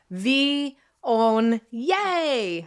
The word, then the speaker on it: Viognier: V, own, yay. That's how we pronounce it.